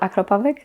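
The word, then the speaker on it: Akrapovič: Oh yeah, well I have a Acropovic, that's how you say it.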